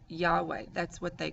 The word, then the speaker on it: Yahweh: Yahweh, to the Israelites, they're actually not able to pronounce that name. We later interpreted it and put an A and an E in the word Yahweh to be able to pronounce the word.